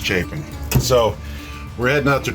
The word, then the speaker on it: Chapin: carolina that's c-h-a-p-i-n a lot of people say chapman but it's pronounced chafing so we're heading out to drear island it's